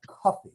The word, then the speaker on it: Kofi: your day name was kofi kofi um we would anglicize that or phonetically we would spell or call that coffee or cup there are thousands of